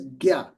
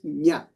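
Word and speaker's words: ज्ञ: letter is pronounced as Gya. Gya. Okay? You're talking of this letter, right? Yes. So, for example, in Yagya. Yes. So that's the northern Indian pronunciation.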